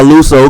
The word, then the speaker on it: Luso: gave a speech hold on my name is luo the artist I was born in Nashville Tennessee